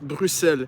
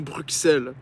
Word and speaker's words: Bruxelles: Tu dois d'abord savoir que Bruxelles se prononce Bruxelles et non Bruxelles. Le X de Bruxelles fait le son S comme dans 60 et non X comme dans box.